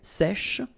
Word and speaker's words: sèche: So remember, we've got this E accent grave here. So it's really open. E, sèche, sh, okay, sèche.